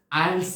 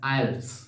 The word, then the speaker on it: IELTS: language testing system আইএলটিএস আমরা আইএলটিএস হিসেবে উচ্চারণ করে থাকিং অনেকে আমরা আইএলস বলি হ্যাঁ আইলস সুতরাং সংক্ষেপে আমরা বলি